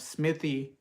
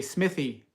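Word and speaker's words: Smithey: So I was corrected about the pronunciation of Smithy cast iron cookware, which is from South Carolina, and they say Smithy. So they add the like the th, they add the Smithy, and a lot of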